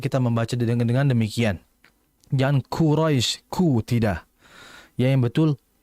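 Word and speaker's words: قريش: di tengah tengah lidah jangan kita membacanya dengan kedua bibir Qurais bukan Hus tapi Qurais ya dengan menaikkan Tengah lidah beda antara Qurais dengan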